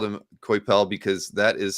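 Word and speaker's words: Coipel: see reuben told the saying it was pronounced quoi pal not quite oh thank you i'll just say that you know i've always called him koipel because that is how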